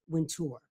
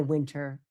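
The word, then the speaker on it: Wintour: magazine, her name is Anna Winur, Anna Winter, depending how you want to pronounce it.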